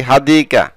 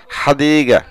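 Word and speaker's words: حديقة: বলে ফানাক মাতাম রেস্টুরেন্ট হাদিগা মানে সে বাগান আমরা বলে থাকি হাদিকা বাগান পার্ক বা গার্ডেন সঠিক উচ্চারণ হচ্ছে হাদিগা হাদাক বাগানগুলো মাসজিদ মানে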